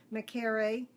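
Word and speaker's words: Mekare: Makere is the way the other twins' name was pronounced.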